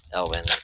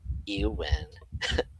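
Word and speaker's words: Éowyn: I think there are better Elwyn cards, or Eowyn. I don't know how to pronounce that. I mean, there's no L in there, so it's just Eowyn.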